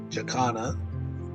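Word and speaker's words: jacana: An exciting lifer for me at Katana wetlands was conquested jakana. That's how it's pronounced in Australia.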